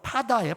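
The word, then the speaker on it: פָּדָה: 이 속량하다라는 말은요, 히브리어로 파다예요. 파다. 이 파다가 아니라 그냥 발음이 파다예요.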